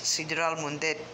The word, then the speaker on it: Sidral Mundet: But yes, I looked up the proper pronunciation, the way they would say it. In Spanish, it's Sidral Mundet.